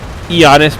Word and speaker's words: Giannis: Giannis, by the way. I should not pronounce the G.